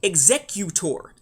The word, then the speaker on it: Executor: That's not how you're supposed to pronounce it. It's Executor.